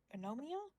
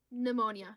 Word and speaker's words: pneumonia: I'll say this as somebody who's seen people who have what's how do you pronounce it? Anomia? Pneumonia. pneumonia.